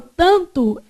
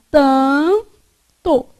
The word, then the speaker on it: tanto: Na palavra tanto, esse A é pronunciado com som nasal, não é? Então, esse N que está aqui, ele, na verdade, só serve para nasalizar o A. Então, vai ficar tanto.